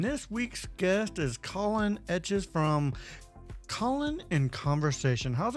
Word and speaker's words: Etches: guess I took aess the American instinct is to call it is to say eaches and it's it's not EXA like the drawings